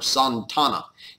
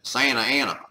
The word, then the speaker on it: Santa Anna: And his name is Antonio Lopez de Santa Anna, or Santana, as it was more properly pronounced.